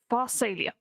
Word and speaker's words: Pharsalia: He's regarded as quite extraordinary for his epic Pharsalia. Yep, that's how you pronounce that.